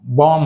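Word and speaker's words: bomb: So example చూద్దాం ఇక్కడ సో ఇక్కడ మనం బాం్ బామ్ అన్నాం అంటే be silent here బాం్ right but ఇక్కడ బాంబ్ కి మనం ఏం యాడ్ చేసాం ఏ ఆర్డి యాడ్ చేసాం.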